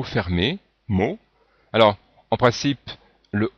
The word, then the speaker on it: mot: Ici, le T n'est pas prononcé, le O est le dernier son du mot ou de la syllabe, on dit bien mot.